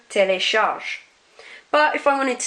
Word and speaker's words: télécharge: I'm not pronouncing that E at the end. It's not je téléchargé, it's not je téléchargé, it's je télécharge.